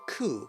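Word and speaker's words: Cú: Cuchulainn? Cu. Hard C, right?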